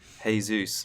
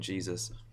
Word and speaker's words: Jesus: minute go Karen yeah hey Zeus rather than Jesus yeah yeah I just